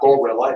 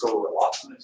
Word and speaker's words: guerrilla: Use the swamps of, it's not gorilla, it's guerrilla. Yeah. It's a Spanish word. And it comes from the Spanish fighting the French during the Napoleonic Wars.